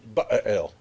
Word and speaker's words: Baal: That is all part of Baal worship. Or if you want to be a little closer to correct in pronunciation, Baal. It's 4 letters and 2 syllables with a split between the A's.